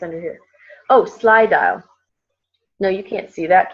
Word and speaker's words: Slydial: So has anybody heard of Slydial? Slydial? No. Okay. Love this. You want to write this down. Let me spell it for you. Sly, S-L-Y. You get what it's like, sly, sneaky, right?